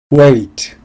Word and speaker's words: weight: weight, 무게, 몸무게. weight, 무게, 몸무게. weight에서 GH는 발음되지 않습니다.